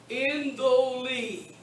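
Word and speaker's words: ἐντολή: Indoli. Notice how that's pronounced.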